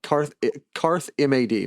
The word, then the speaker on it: Karthmad: Karthmod, like Karth M-A-D, mad, Karthmad, but like pronounced in their accent.